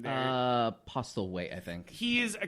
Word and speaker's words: Postlethwaite: Postlethwaite, I think.